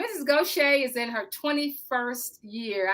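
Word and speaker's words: Gauthier: we're in Southeast Texas so Goshay is spelled g-a-u-t-h-i-e-r so um Mrs Goshay is in her 21st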